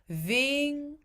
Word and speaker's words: vingar: And then you notice he doesn't pronounce the G. Even though he separates those two syllables, vingar. I'm just going to play that again so you can hear him do it. It's a very, very gentle consonant in the middle of that word.